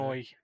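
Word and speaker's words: Melinoë: Little couple extra syllables in there. Melanoi. Melanoi?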